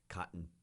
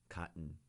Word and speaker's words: cotton: production of cotton or as we say in California cotton cotton just like button or happen we don't really pronounce the o-n or the en a lot in English uh like we can